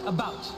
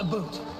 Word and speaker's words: about: I speak English and French, not American, and I pronounce it about, not a boot.